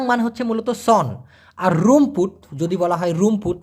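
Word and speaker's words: rumput: তো এই লালাং মানে হচ্ছে মূলত সন আর রুমপুত যদি বলা হয় রুমপুত আর ইউ এম পি ইউ টি উচ্চারণ হবে রুম পুত রুমপুত এই রুমপুত মানে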